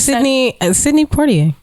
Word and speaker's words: Sidney Poitier: I mean, you Sidney Poitier. Like I don't say Poitier. Like I don't do the French pronunciation.